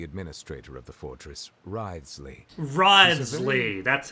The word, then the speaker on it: Wriothesley: Wriothesley, that's how you say his name.